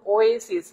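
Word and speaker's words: oasis: স্যার ওয়েসিস কথাটা লিখছে, ওয়েসিস যখনই বলছে এটা মূলত এরকম ওয়েসিস। হ্যাঁ, এটার উচ্চারণটা এরকম ওয়েসিস, যদিও ও দিয়ে শুরু, বাট ওয়া কথাটা এরকম ওয়া। হ্যাঁ, এই ওয়া ডব্লিউ এ, এই জন্য আমাদের এই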